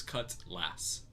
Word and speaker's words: cutlass: It's cutlass. Yeah, it's lass. Lass. Yeah. Not less. Yeah, it's pronounced Lass.